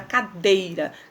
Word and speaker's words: cadeira: Mas se eu falo a palavra cadeira, cadeira, ó, cadeira. Tá vendo que o D eu falo com muita força e ele não tem acento.